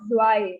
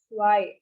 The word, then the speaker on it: zwei: 1 next is 2 so 2 is why again it is not zwei it's why so uh in the countings